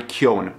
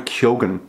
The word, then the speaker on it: Keoghan: I kind of thought there would be like a little bit of an accent towards the end of his name, but no, his name is Barry Keoghan. I think that's how you say it.